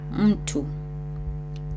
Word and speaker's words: mtu: So M in the first section, it's a syllable, and in these 2 sections, it's not a syllable, right?